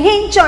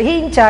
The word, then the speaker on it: hincha: palabra en la chicha sea la h muda pero como aquí en nicaragua le dicen guincho entonces de hincha aquí nicaragua tom s